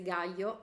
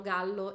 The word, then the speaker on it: Gallo: nasce lorena gallo e io ero indeciso sulla pronuncia del cognome perché per istinto avrei pensato che si chiamasse gaio essendo ecuadoregna però tutti la chiamano gallo in qualsiasi intervista documentario